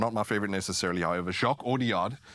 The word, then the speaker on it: Jacques Audiard: Jacques Audiard is how you say it.